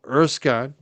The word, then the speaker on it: Erskine: And uh you can search Judge Erskine. I'm spell it's actually pronounced Erskin, but it's spelled Erskine with it.